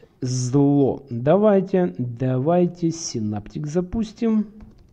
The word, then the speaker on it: LZO: А читается как зло.